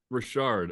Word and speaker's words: Rashard: say his name right is it Jake Richard or Rashard Rashard yeah Rashard uh what's uh what's helped